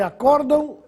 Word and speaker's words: acórdão: Qual é a diferença entre acórdão e acordão? O acórdão é muito utilizado em tribunais, pois se trata de um acordo judicial. enquanto o acordão é mais informal, feito entre amigos. É o aumentativo de acordo.